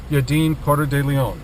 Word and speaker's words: Yadin Porter de Leon: today is my in Tech We Trust co-host yaden Porter de Leon nice to be with you mark nice to have you excellent pronunciation of my last name in fact I've